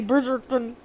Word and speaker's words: Bridgerton: Why are you saying it like that? That's how it's spelled. There's no second R. You say Bridgerton.